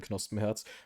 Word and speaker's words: Knospenherz: I pronounce it in German because it's a German name, Knospenherz.